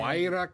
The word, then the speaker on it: Huayra: You got to learn to say this. Pen. Huayra Carbon. Huayra. Huayra. It's Spanish, Huayra.